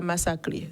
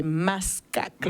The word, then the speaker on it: Mascaclé: Et j'ai une amie qui me dit c'est pas Massaclé, c'est Mascaclé.